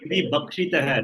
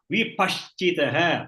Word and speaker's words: विपश्चितः: No, you are telling vibhakshitah. No, it is paschati. Paschati in Sanskrit is seeing. Vipashchitah. Pattam. Partha. Okay. Not ba. Not you are pronouncing as ba.